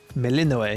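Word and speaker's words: Melinoë: Melinoe, yeah, okay, so it's pronounced how I thought it was.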